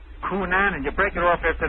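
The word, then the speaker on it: Cunanan: It is pronounced Coonanan. You say Coonanan.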